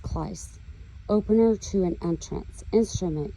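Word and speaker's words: κλείς: So in Strong's 2807, Cleus is key, or it's pronounced Kleis, opener to an entrance, instrument used to open and close a door or gate, aka our mouth.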